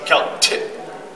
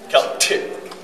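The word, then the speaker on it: Kaltxì: and it's pronounced Celtic. Celtic. The t. This one letter. Yep, this is a, what's the word, a grapheme or something? Forget the word. But it's an ejective.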